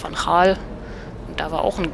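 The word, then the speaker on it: van Gaal: immer schön drauf achten das G wird ausgesprochen viele von euch werden wahrscheinlich den exbayern Trainer Louis vanal noch kennen da haben auch viele Louis vanal gesagt aber der hei natürlich vanal und da war auch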